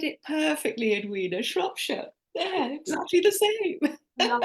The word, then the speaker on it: Shropshire: going to make a mess of it, from Shropshire, Perfect. Shropshire, Shropshire, England. Karen, please save me. Say it properly. You said it perfectly, Edwina. Shropshire.